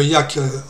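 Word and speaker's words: Yacc: Mais pour contourner un jeu de mots, ils ont dit, comme c'est un Yak, comme Yak, ça se prononce de la même façon en anglais que le Yak, Yet Another Compiler, YA2C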